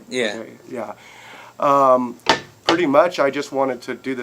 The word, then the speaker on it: Oday: That's how I pronounce it, right? Yeah. Oday.